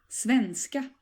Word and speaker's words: svenska: And the rhythm of the word here, as in many cases in Swedish, is that you stress both parts of the word. So please say after me, svenska.